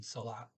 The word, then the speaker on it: salat: Um, and they do pronounce the T in salat.